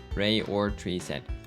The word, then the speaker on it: Rayorched: You're wondering how my name is pronounced? That's a rude question. Ray or Tree said, obviously.